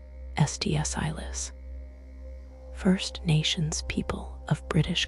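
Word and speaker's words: Sts'ailes: of the Halkomelem language, used by the SDSales, pronounced SDSilis, First Nations people of British Columbia, a name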